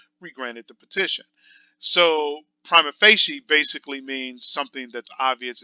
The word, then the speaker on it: prima facie: Prima facie. That's how it's pronounced, prima facie.